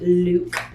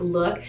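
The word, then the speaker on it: Lewk: over to Luke and it basically is look but it's spelled L e WK so you want to say that Luke and this is what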